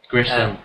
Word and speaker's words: Grissom: Grissom, not Grimsom.